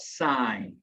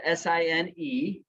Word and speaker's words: sine: when we talk about sign sign is spelled s-i-n-e but it's abbreviated s-i-n on your calculator it's abbreviated s i n we don't pronounce that sin we don't say cos